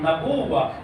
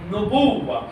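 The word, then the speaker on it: نبوة: The general pronunciation is Nabuwa, but if you read Zarat al-Jamia, it is actually not Nabuwa, but it is actually Nubuwa.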